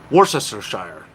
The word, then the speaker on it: Worcestershire: Worcestershire is how it's pronounced.